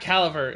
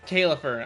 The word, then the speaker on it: Caelifer: It's not Calver, it's Caifer.